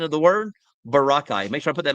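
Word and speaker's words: Boracay: Barakai. So, Barakai is actually the the proper pronunciation of the word. Barakai. Make sure I put that in my mind from now on. Barakai. Not Borai.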